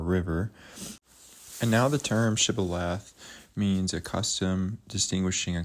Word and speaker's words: Shibboleth: If he answered no, they told him, "Please say Shibboleth." If he said Sibboleth, because he could not pronounce it correctly, they seized him and killed him at the fords of the Jordan.